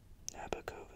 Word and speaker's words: Nabokov: Nabokov is how you say that.